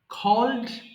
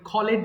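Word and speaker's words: called: burned খোল ডাকা কল কলড কলড এটা অনেকে ভুল করে ভুল করে কলেড বলে হ্যাঁ অনেকেই ভুল করে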